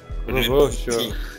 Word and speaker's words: Rebocho: The pronunciation, by the way. Pedro Rebocho. Rebocho.